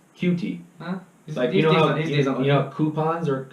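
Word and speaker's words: Coutee: I for the longest time thought I was Cote but it is pronounced cutie huh you know coupons are like that you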